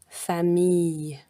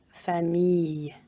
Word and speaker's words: famille: Ici, on a le son i, comme famille. On voit les L, mais on n'entend pas L. On entend I, famille.